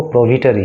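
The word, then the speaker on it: prohibitory: एंड प्रोहिबिटरी orders were issued in the area, प्रोविटरी, वैसे इसका जो सही प्रोनाउंसिएशन है वो प्रोविटरी है, HI इसमें साइलेंट माना जाता है, प्रोविटरी है।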